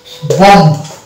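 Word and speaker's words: bomb: অর্থাৎ এই শব্দ আমরা বি কে সাইলেন্ট হিসেবে দেখতে পাবো। এই ধরনের শব্দ যদি আমরা দেখতে পাই কোথাও যে এমবি পাশাপাশি আছে তাহলে বি কে কিন্তু আমরা সাইলেন্ট ধরবো অর্থাৎ উচ্চারণ করব না।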